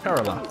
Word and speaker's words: Kerala: Rajasthan, do I pronounce that correctly? Yeah. Okay. Himachal Pradesh. And Tamil Nadu and Kerala? Kerala.